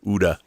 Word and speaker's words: OODA: It was Major Chai Chai who said OODA is pronounced like Gouda. Uda.